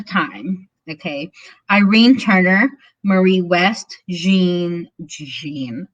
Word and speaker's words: Jean: He was charged with the murders of, at the time, Irene Turner, Marie West, Jean, I say it like it's French.